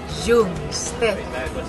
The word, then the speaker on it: Jungstedt: clase de sueño ahora primero mi apellido jones y ahora empezamos por